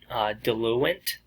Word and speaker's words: diluent: word till you wait I had to look up how to say it because we're used to saying dilute n't they a diluting substance but technically chemically it's called diluent I'm very hard for me